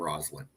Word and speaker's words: Roslyn: woman character on their name Roslyn that's how I knew to pronounce her name with a z with a z Oh okay I I